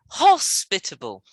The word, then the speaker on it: hospitable: is fairly easy actually so where's the civil stress that would be hospitable again again i listen